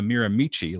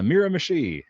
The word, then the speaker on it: Miramichi: Like the Miramichi, it's not the Miramichi like I initially called it. It's the Miramichi, and it's the Dungarvan Hooper, not the Dungarvan.